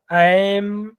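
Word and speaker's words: ऐं: में भी एच है तो एच वर्ण में हम नासिक का अनुकरण नहीं प्र कर पाएंगे इसलिए नासिका अनुसार सेच वहां पर हम अनुस्वार का उच्चारण मकार से करते हैं तो वह शब्द होगा एम आगे फिर ह्रीम है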